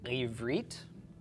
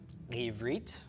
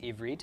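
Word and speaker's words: עברית: So this is pronounced ivrit, ivrit, or just ivrit if you don't want to swallow your tongue at the beginning.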